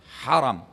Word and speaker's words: haram: Ha ra mim. Dibaca langsung ya. Bagaimana bacanya? Haram. Jangan Anda bilang haram. Karena kalau ditambah alif, ha, ra, alif, mim berarti dilarang. Haram hukumnya, gitu kan, haram. Kalau ini wilayah haram. Bedanya hanya hilang alifnya saja, kalau haram artinya dimuliakan.